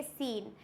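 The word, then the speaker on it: scene: क्या होता है मसल्स उसके बाद आएगा सीन यहां पर सी क्या है साइलेंट ओनली एस प्रोनाउंस है तो यहां पर हम प्रोनाउंस करेंगे सीन चलिए आगे बढ़ते हैं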